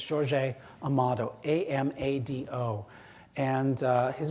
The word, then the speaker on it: Jorge Amado: northeastern Brazil in Portuguese the J at the front of the word is not pronounced like an H like in Spanish so it's George a a motto am a do and